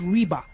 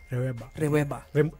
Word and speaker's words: Reweba: Am I saying it right? Or is it Reba? Reweba.